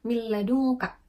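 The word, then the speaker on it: من لدنك: lam dan juga ro cara membacanya yaitu dengan meleburkan kedua huruf tapi dengan tanpa diiringi dengung Contohnya yaitu milladungka gitu Nah itu kan hurufnya lebur gitu tapi kita enggak membacanya dengan dengung kemudian kita lanjut ke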